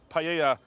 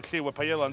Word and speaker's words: paella: ..the more intense the paella's colour will be in the end. Paella is pronounced without the "l".